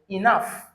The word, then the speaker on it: enough: Enough.